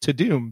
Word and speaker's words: Tudum: It's Tudum. It sounds like Tudum, but it's pronounced Tudum because that's how they said it in every person in the Well, they're wrong.